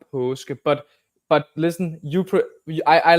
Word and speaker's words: Paaske: So actually, it's Paaske. So you say, oh, yes. So it gets when you put two A's together, it gets the sound of the last letter in the Danish alphabet, which is O, and it's that sound. So it's Paaske.